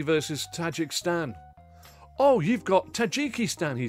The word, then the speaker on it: Tajikistan: is there Tajikistan now 61 years of tajikstan has been altered mentally to the correct pronunciation of Tajikistan this for me will